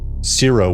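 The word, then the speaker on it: Ciro: And, uh, zero, which is C I R O, just to kind of get that out there. Uh I know I don't I pronounce it like zero probably.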